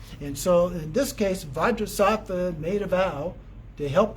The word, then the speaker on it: Vajrasattva: And then Benzasato is actually Vajrasattva, the way that it's pronounced often in Tibetan.